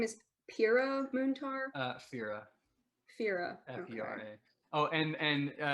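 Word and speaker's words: Fera: Fira.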